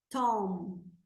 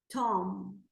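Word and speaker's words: tomb: Poison Poison Tom B depois de m não pronuncia Então a gente vai pronunciar só até o m ó Tom Tom which Hat which Hat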